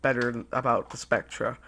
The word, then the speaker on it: Spectre: It's spelled the same way as this, but people call it the Spectre. It's pitiful. It's the wrong way to pronounce it. The right way is Spectra, just like this gun, Spectra.